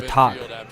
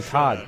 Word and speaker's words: Tag: level of uh or talk see i even know i know how to say it right gutentin talk not tad or todd it's talk well it's like a k sound january